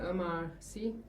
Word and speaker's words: Omar Sy: Was um attaching Omar Sy Is that I'm pronouncing his name right? Omar Sy, yes.